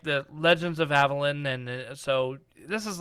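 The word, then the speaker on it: Avallen: Avalon yeah it's spell it's not spelled like Avalon so Avalon a-v-a-l-l-e-n I think it's supposed to be like Avalon but it's Avalon yeah Evelyn and fifth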